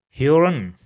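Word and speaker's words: hören: So for example in this word over here I will replace the omloud with ao. So it will be pronounced as heron which means hearing heron.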